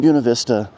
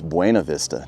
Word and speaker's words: Buena Vista: might be saying it's Buena Vista, not Buena Vista. Well, this is kind of like Hurricane Utah isn't Hurricane Utah. The way they pronounce it here is Buena Vista, not Buena Vista.